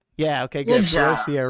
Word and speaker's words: Perossier: No, Navy sailor, mother, Navy chief, grandmother, Miss Freedom USA woman division, published author, Perossier. Did I say it right? Yeah, okay, good. Perossier, right.